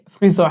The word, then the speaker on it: Friseur: And also tip, of course, because in Germany, you usually tip service providers like friseur.